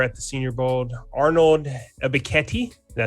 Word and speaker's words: Ebiketie: And I'm going to select the guy we saw over at the Senior Bowl, Arnold Ebiketie. Did I say it right? I butchered it.